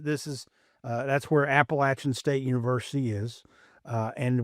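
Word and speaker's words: Appalachian: North Carolina, this this is uh that's where Appalachin State University is. Uh, and we have established on this show that it is pronounced Appalachin and if you pronounce it otherwise then you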